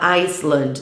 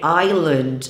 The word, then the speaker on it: island: dia a dia e É errado falar Island tá a pronúncia é Ailane e temos também a